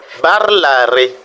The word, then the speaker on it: parlare: Nous avons aussi ce mot parlare, il dit se promener, balader, vous voyez, parlare. Donc l'accent tonique est tombé sur l'are, la, et non le ré, c'est l'avant-dernière syllabe, balare.